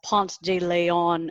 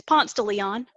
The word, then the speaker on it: Ponce de Leon: And sort of like even here in Atlanta, nobody says Ponce de Leon Avenue. It's Ponce de Leon.